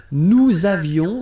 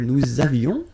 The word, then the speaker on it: nous avions: Nous avions, let's make this beautiful liaison here. Nous avions, okay?